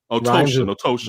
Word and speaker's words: Ottochian: Ottochian. Rhymes with lotion. I always teach people like Ottochian.